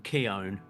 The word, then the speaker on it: Keown: Keon o so am I saying that name wrong Johnny well yeah you are and I I didn't know I didn't know that how how didd you say it it's like gown I guess is how he explained it because you